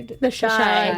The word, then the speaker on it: Chi: Am I pronouncing this right? Chi? Is that how they? The Chi.